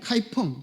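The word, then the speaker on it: 开封: 거기 있는 수도 개봉, 카이펑. 중국 발음 말하면 카이펑입니다.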